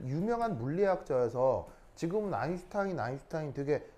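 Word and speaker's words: Einstein: 하냐면가 그냥 스가 아니고요 독일어에서 st t 뒤에가 붙으면가 쉬 바입니다 쉬 쉬 알죠 쉬요 발음 그래서 얘 읽을 때는 어떻게 있냐면 슈타인이 슈타인 알겠죠 그래서 아인슈타인이 그래서 이게 이게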